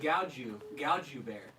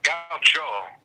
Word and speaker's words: gaucho: We got Gaucho Bear on the line. Gaucho? Gaucho. It's like a Argentinian horse-faced dancer. What is it? Gaucho Bear. No, Gaucho.